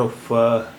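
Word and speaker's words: ओ: It is pronounced as O in English words north, horn, horse, point, etc. This is a printed form of O, and its handwritten form is here, written in blue here.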